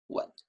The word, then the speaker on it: 吻: To kiss is 吻, low tone, 吻.